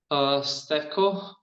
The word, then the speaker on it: Stefcho: Stefko, nice to meet you. Stefko or Stefcho. I don't know how to pronounce Hello. it. Hey. Stefcho, it's a Macedonian pronouncing. So okay, Stefcho.